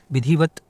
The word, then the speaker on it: विधिवत: हलंत लग जाएगा भाग्यवान विधिवत विधिवत पूरा लिखा है विधिवत होता है विधिवत मतलब कि ता का जो है अल्प उच्चारण किया जाता विधिवत विधिवत लिखा है